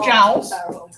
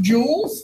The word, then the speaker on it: joule: the SI unit and it's not pronounced jowls it's pronounced jewels like jewelry or an English unit